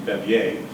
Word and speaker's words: Bevier: Elias Bevere, he was the great-grandson of a French and and this is why I always pronounce his name Bevier.